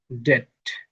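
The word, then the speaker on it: debt: তার মানে এটা হবে ডেট ডাউট সাটল লেমড। শব্দের শেষে এম এন বসলে এন উচ্চারণ হয় না।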